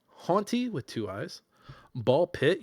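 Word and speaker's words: BALL x PIT: Haunty with two eyes, Ball Pit, you don't say the X, the X is silent, Blueprints, and Balders's Gate 3.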